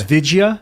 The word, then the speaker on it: Vidya: So it's Vidya? Vidya. Vidya. Well, that's what everyone's saying. It's been years since I was there, and they said it was Vidya.